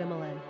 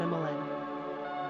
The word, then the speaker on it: Emmalyn: Quick Facts ON EMMALYN GENDER: Girl ORIGIN: English NUMBER OF SYLLABLES: 3 RANKING POPULARITY: 455 PRONUNCIATION: EM-ә-lin SIMPLE MEANING: Emma + Lynn Characteristics OF EMMALYN